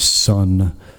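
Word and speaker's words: Seon: Buddha Hall in uh Korean Zen or the Korean pronunciation is Sun Buddhist temple in the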